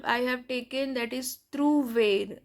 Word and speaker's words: trouver: So the first verb I have taken, that is trouver. So you know that OU sound is U. So trouver, and last R is always pronounced.